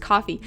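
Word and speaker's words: Ko-fi: time i didn't know kofi was just supposed to be pronounced coffee yeah it is i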